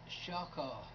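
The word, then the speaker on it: shachah: Worship, in the Old Testament Hebrew language, number 7812, in your Strong's Concordance, is pronounced Shaka.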